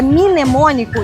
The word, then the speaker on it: mnemônico: Tudo que você ouvir que é mnemônico e se escreve é com M m m m m m mudo. M N é bem interessante.